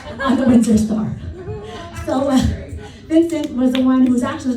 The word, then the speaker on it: Vincent: My whole life, I was telling him it's not Winston, he's Vincent.